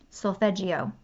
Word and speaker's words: Solfeggio: So the frequencies that I refer to are the I'm going to butcher this word, Solfeggio is how you say it, frequencies.